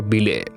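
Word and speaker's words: Bilé: কারণ বাস্কোদাগামা ক্লাবের ওই গোলকিপারের আসল নাম ছিল বিলে। ডিকো ভুল উচ্চারণে তাকে পিলে বলে ডেকে ফেলেছিল।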